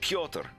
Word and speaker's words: Piotr: Do you still do the t, or is it more like a d? Like T. Piotr.